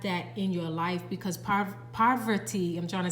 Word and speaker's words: Parvati: Parvati is how her name is pronounced, and it says devotion up under here.